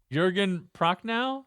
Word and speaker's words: Jürgen Prochnow: It's even got I don't know, Jürgen Prochnow?